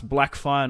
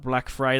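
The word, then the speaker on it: Blackfyre: down here as well it's house red wine not house red wi and it's not it's house Blackfire not black fry they they spell it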